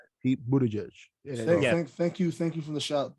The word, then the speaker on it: Buttigieg: pronounced Pete Buttigieg.